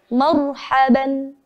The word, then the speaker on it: marhaban: Cara bacanya dengan sedikit memoncongkan bibir untuk memberikan sifat tafkhim pada huruf ra sukun menjadi marhaban. Tidak sekedar marhaban, ya. Namun kita beri sifat tebalnya menjadi marhaban.